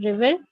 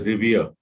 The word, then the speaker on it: revere: disconnect and reconnect sir what is the pronunciation river no the pronunciation for the word first tell me which one is the correct option first or second second one second one the pronunciation is revere yes he's a revered